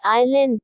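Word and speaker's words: island: आई के बीच आया एस कई बार साइलेंट होता है जैसे आई एस आई ए T eyelet छोटा टापू आई एस एल ए एन डी आईलेड टापू शब्द के अंत में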